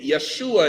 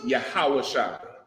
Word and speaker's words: Yahawashi: it brother any okay Yeshua is a bastardized pronunciation of his name right it really comes from the Jewish man's Yiddish and just you know being converted over years in Hebrew his name is yahawashi Right Hebrew does not